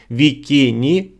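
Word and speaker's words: víkingr: значення слова вікін яке на скандинавській мові пишеться як вікінгр А звучить як вікіні значить пірат тобто самі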